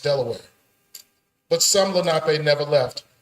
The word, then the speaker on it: De La Warr: British general, Thomas West, Lord de la Warr, now pronounced Delaware.